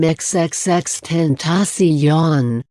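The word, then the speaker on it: XXXTentacion: who sported dreadlocks and facial tattoos and who pronounced his name xxx10 tasi yon was a platinum selling rising star who tackled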